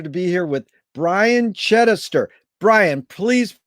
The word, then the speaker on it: Chidester: pronounce it right uh chitister is the easiest but it's it's a derivative of chai chester which means ki is christian and chester means settler so they were celtic